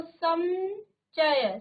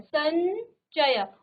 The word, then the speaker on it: संचय: अनुस्वार हो जाएगा इसमें तो संचय संचय उच्चारण इसका आ रहा है ठीक है य का उच्चारण आ रहा है आधा य का ठीक है इसी प्रकार